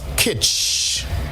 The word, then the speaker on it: kitsch: let's go the word of the day is kich all right it's a noun and it's spelled k-i-t-s-c-h kitsch is something that appeals to